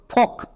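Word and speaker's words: folk: ফিরে আসবে নেক্সট এল এল এর উচ্চারণ করতে হবে না কে কে এর জন্য কো তাহলে এই ওয়ার্ডের উচ্চারণ কি দাড়ালো এফ ও এল কে ফক একে আমরা ফলকে উচ্চারণ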